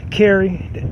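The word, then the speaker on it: Kheris: I'm just saying car Carrie the H and the S is silent but um so this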